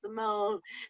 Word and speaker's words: Simone: And I got up there, I was like, yo, my name's Simone. It rhymes with my phone.